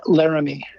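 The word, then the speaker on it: Laramee: His name is Guy Laramie. So it's G-U-Y, spelled like Guy Laramie, L-A-R-A-M-E-E.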